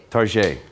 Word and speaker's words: Target: You know how Americans pronounce the store Target? Tarjay. Because we think if we pronounce it en français, it sounds a bit chicer.